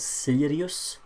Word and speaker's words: Sirius: The team Santi asked about is called Sirius. Like you know, Sirius Black from Harry Potter. It's spelled the same way.